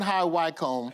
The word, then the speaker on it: High Wycombe: Staying in high wickham." Did I say it right? Did I say it right that time? Yeah. Yeah, you said it. All right. Staying in high WCOM.